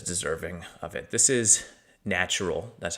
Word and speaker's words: nttrl: This is Natural. That's how you pronounce it.